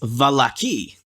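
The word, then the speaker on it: Vallaki: more than we are Arina says it's the lucky or then the emphasis is on the second syllable ah that's the third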